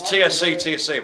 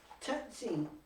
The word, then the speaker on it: tsetse: We've got another little disease-ridden fella, the old tsetse fly, Oh, which is pronounced, well, it's, you know, it's TSC, but it's tsetse fly. Tetsy.